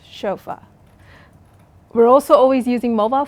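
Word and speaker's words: chauffeur: from so for example chaua chaua is borrowed from the French language and it is spelled c h Au U FF R but it's pronounced chofa we're also always using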